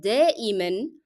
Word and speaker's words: دائما: the meaning of usually, has to be pronounced with the sound of tanween n in all cases because it's a part of the word. You cannot drop it even if you stop on it.